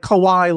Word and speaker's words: Kawai: A W A I Oh, not KY like the lubricated. No, not K Y. The lube. Very different. Like Kawaii like Hawaii.